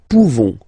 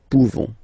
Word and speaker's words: pouvons: Nous pouvons, okay? You don't pronounce the final S. Nous pouvons.